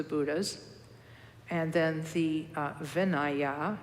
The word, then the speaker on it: vinaya: and then the uh vinaya which is spelled v-i-n-a-y-a or some people call it vinaya vinaya or vinaya which is monastic discipline